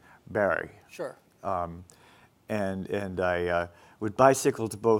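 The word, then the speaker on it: Barre: The New England pronunciation was Montpelier and Barry.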